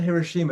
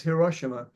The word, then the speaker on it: Hiroshima: I think it's not Hiroshima, it's Hiroshima. I looked up how to pronounce it today, and there's going to be